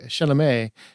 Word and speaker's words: Chalamet: a while because it has Timothy chalamet and that's actually how you say his name suck it but it